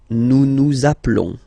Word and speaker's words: nous appelons: Nous appelons. Okay, final S doesn't exist.